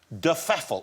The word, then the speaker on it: de Pfeffel: Am I saying it right? Yeah, I think so. Well, nobody... Well, no, we don't know exactly how it's meant to be pronounced. That's how my grandmother wanted it pronounced.